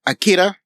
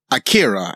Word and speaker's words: Akira: were pronouncing it as Akira. And I realized that that's probably the more accurate Japanese pronunciation of the name.